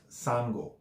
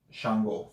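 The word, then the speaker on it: Ṣàngó: super proper and formal the formal way to spell Chango is just sang wool but it's not pronounced Sango it still pronounced shun wool so your best bet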